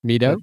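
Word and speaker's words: Mi-do: Um, I actually really liked uh is it Misong? How do you say her name? Mito. The daughter. Mito.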